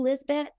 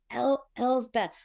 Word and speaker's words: Elsbeth: So a lot of times they're like, "Are you Lisbet? Are you Liz Bet?" And they'll say, "I'm Elbeth." Yes, I'm Elbe. Right. Right. El's Beth.